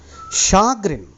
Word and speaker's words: chagrin: quibbling making small complaints prognosticate predict the future chagrin that is the pronunciation chagrin chagrin means irritation and disappointment because